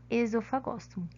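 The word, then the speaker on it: Oesophagostomum: nós temos ainda o esôfago samu o esôfago samu embora nome seja escrito com o né a gente não pronuncia como ele vem do latim a pronúncia é esofagosto bom o esofagosto molho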